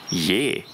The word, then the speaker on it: ge: G devient Yé. Donc, le G devient Y s'il est suivi d'une voyelle. Yé.